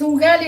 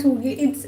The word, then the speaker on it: ugali: It's ugali, not ugali.